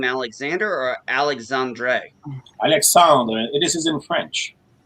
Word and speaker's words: Alexandre: is it alexander or alexandre no i i i'm uh first uh the way to pronounce it in french that don't pronounce the e in a way because alexandre it's more